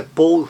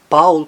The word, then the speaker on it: Paul: Na palavra brown, no nome Paul, que em inglês é Paul, em alemão não, Paul.